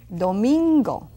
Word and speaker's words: domingo: Does it sound like flamingo? Yes. Domingo.